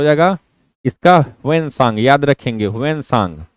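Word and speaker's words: Hiuen Tsang: याद रखेंगे, ह्वेनसांग। ऑप्शन में आपको टी साइलेंट होता है, इंग्लिश में अगर ऑप्शन देखेंगे तो वहां पे टी साइलेंट होता है।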